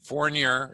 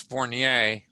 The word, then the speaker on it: Fournier: And and there are 2 ways to pronounce it. Fournier is how the lazy Americans do it, and it's Fournier as far as the French.